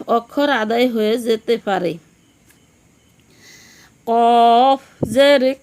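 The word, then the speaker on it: ق: গোল মাথার উপরে দুইটি ফোঁটা থাকলে তার নাম কফ, তার নাম কফ। কফ উচ্চারণ কেমন হবে? কফ জিহ্বার গোড়া থেকে মোটাভাবে আদায় হবে, নইলে কাফ অক্ষর আদায় হয়ে পড়া হারাম হয়ে যাবে।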